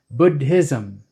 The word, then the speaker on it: Buddhism: But the real pronunciation is Buddha and Buddhism.